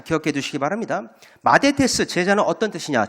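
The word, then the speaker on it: μαθητής: 마데테스 제자 저 꼽을 한 것이가 마데테스라고 읽는 단어입니다.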